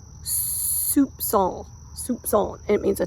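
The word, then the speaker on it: soupçon: I always laugh because I think it sounds like it looks like soup can and it's actually pronounced Soup song Soup song it means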